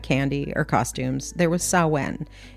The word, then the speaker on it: Samhain: So long before Halloween had candy or costumes, there was sawen. It is spelled s a m h a i n. But don't pronounce it Sam Hayne. It's a common mistake. It's actually pronounced sin.